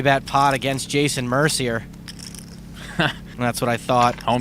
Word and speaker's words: Mercier: Hummel makes the call it's pronounced Mercier you punk to the